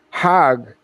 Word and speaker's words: Hajj: around the circles now Hajj is a pilgrim to Mecca hag is the Egyptian pronunciation hug in Hebrew means